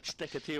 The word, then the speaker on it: Steketee: Just then, he even offers help, suggesting that you think of Zebedee. Steketee almost rhymes as if Steketee comes in and bowls, and this ball is going to produce 4 runs.